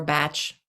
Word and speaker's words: Bach: Used to be the only flower essence you could get were the Bach essences or Batch. If you were in Europe you would pronounce his name Batch.